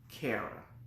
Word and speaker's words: Cara: It should be Cara because it's C-A-R-A, but because my name is Akara, I just go to the pronunciation of Cara.